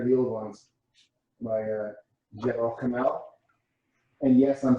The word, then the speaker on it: Gebel Kamil: My Gebel Kamil, and yes, I'm saying that correctly. I've practiced. Gebel Kamil. Good job. That's amazing. Yeah, everyone says Gebel Kamil or Gebel, but it's Gebel Kamil.